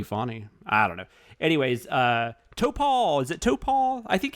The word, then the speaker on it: Topol: Anyways, Topol, is it Topol? I think it has to be, right? It's either that or Topol. I think Topol.